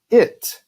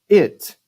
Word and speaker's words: it: Então cada vez que nós temos I, isso é o que nós temos na palavra it. Ele ou ela sendo coisa, it.